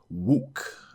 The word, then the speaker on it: 욱: additional stuff here sorry this character is pronounced wook uh lose one's temper